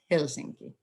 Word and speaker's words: Helsinki: it would be pronounced Helsinki so stress is always on the first syllable the population of Finland